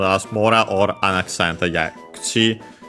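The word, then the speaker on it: 口: Yeah, kuchi is one of the unaccented ones. By the way, as usual, the u of ku is barely heard if at all because it's between unvoiced consonants.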